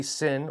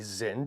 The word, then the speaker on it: Sinn: right to sinn, specifically a sinn or a zinn, depending on how you want to pronounce that, 856.